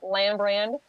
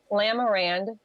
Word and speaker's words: Lamarand: Yes, we have been truly blessed by the mayor, Lambrand. Let me say it over again. I said his last name wrong. Okay. The mayor of our hometown, Taylor, Michigan, Mayor Lambrand, has donated the house, and it has truly been a blessing.